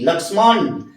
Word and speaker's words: লক্ষ্মী: হলে লক্ষ্মী হতো লক্ষ্মী লক্স লক্স একই ম উচ্চারণ হবে না এটা লক্ষ্মী হবে উচ্চারণটা কি হবে লক্ষ্মী